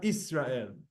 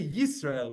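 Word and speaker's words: ישראל: It's not Shema Israel. You know, like Israel, when you say Israel, you're taking Yisrael and they're basically dropping the Y. It's really Yisrael with a Y.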